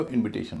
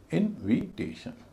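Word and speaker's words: invitation: ए नहीं उससे पहले जो आई है जो इनवाइट में आई का उच्चारण दे रहा है उसका उच्चारण छोटी इ होगा। और उससे पहले जो है आई एन उसका उच्चारण वही होगा जो होना चाहिए। इनविटेशन इनविटेशन इनवाइट का इनविटेशन हो गया।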